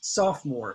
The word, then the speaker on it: sophomore: freshman second year is sophomore now there's oh-oh-oh but this oh ii o is not pronounced and this always pronounced ah saw sophomore sophomore that's second-year students this